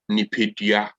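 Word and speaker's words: nipadua: So when it comes to pronouncing human body in Twi, we call the human body Nipedia. Please say it after me. Nipa. Dia.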